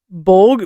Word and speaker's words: bwg: in other European languages, like the Welsh bog, but it's really just, it's spelled BWG, and the German Bogelman, both meaning something like ghost or goblin.